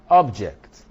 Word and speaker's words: object: Object, object, object, object, object, object, object. The difference is that one object is a noun, the other object is a verb.